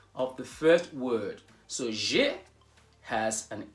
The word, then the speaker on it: j'ai: Not two syllables, but one. Not j'ai, but j'ai. Just one syllable.